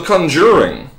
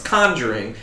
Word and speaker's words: Conjuring: that no you don't the emphasis is not on the second syllable almost ever it's conjuring it's it's a it's